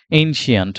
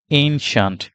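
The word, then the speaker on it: ancient: এরপর আমরা যাচ্ছি নেক্সট ওয়ার্ড যেটা সেটা হচ্ছে এনসিয়েন্ট আমরা এটাকে অনেক বলি এনসিয়েন্ট এনসিয়েন্ট উইন্ডস এনসিয়েন্ট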